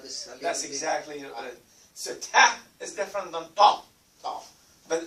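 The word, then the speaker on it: ط: It's like you're saying this here. T-A-A. Ta. But make it thicker.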